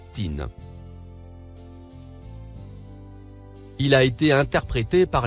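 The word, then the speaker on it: طين: Le mot en surbrillance bleue se prononce tin.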